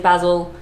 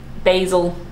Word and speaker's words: basil: like have the long, I say basil, but that's because my accent's all funny and melded with the British accent. Australians will say basil, Americans say basil, and the Brits say basil. There you go.